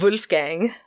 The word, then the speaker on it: Wolfgang: Wolfgang bold fireball fee no its whoa not woo I'm pronouncing it wrong